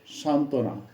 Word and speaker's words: সান্ত্বনা: বফলার ব্যবহার ধাপ ছয় বফালা যুক্ত ব্যঞ্জন বর্ণের সঙ্গে যুক্ত হলে তার কোন উচ্চারণ হয় না যথা সান্ত্বনা দন্তস আকার দন্তনা ত সংযুক্ত বফালা দন্তনা আকার উচ্চারণ হচ্ছে সান্ত্বনা তেমনিভাবে উজ্জ্বল তেমনিভাবে পার্শ্ববর্তী